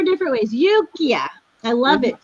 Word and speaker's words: Yukia: Yukia. Yukia. I know I say it like 3 or 4 different ways. Yukia.